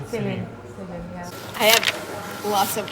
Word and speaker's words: Selin: In Turkish it's Selin, but I thought that I wanted her to have a name like my name that's pronounced by different ways by different people, so I think it's all okay. It's all okay. Yeah. But in Turkish should be Selin.